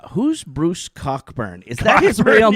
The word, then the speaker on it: Cockburn: He's like, "Who's Bruce Cockburn? Is that his real name?" It's not his real name. 'Cause Yeah. it's pronounced Coburn. Yeah, it's Coburn.